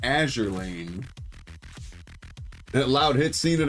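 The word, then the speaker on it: Azur Lane: Going along with the NK and the uh Azour Lane. Azure. Azure Lane. We figured out it is pronounced Azure Lane.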